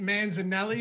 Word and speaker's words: Manzanelli: or was it Pete Manzanelli at the time? Is that right? Is that the right pronunciation of that? Yeah, you nailed it. Just lean into the Italian side of it, and you got it.